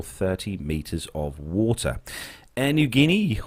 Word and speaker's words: Niugini: Air Niugini, or Air New Guinea, God, that's a difficult one to pronounce, that one, is the national airline of Papua New Guinea and has operated since 1973.